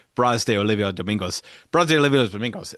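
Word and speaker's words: Brás de Oliva Domingos: And she looked at it and she said, basically like it was one word, Bras de Olivia Domingos.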